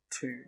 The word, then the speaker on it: tomb: All of them have a silent B, but the pronunciation of the vowel is a little bit different. Bomb, comb, and tomb.